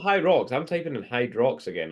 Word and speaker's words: Hyrox: Pronounced hyrox without the D, but yeah, who fucking cares?